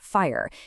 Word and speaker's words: FHIR: In India, this is defined by the FHIR pronounced fire implementation guide for ABDM specifically version 6.5.0.